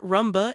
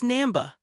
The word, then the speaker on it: Namba: Not Ramba, it's Namba.